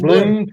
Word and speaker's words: Blum: probably They say pronounce blue. it Bloom. I would say blue, Bloom. Texas. It's Bloom, Texas.